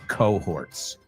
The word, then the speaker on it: cohorts: Well, the H we pronounce in English.